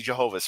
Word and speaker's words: Jehovah: It's library videos, English, and the category is BJF, Be Jehovah's Friend. Yeah, that's the name of the series, actually. Excuse me, I gotta say it right. Jehovah, because the mom says it like that.